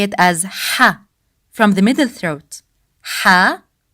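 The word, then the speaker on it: ح: The sound of ha comes from the middle part of throat. We don't say it as the English sound ha, as in house. We say it as ha, from the middle throat.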